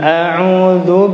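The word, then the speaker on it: أعوذ: A'udzu bukan zu.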